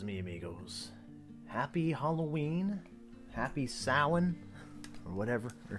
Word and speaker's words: Samhain: Happy Samhain. Or whatever. I think it's Samhain. I think that's how it's pronounced. I said it right. Okay, got confirmation from the other room.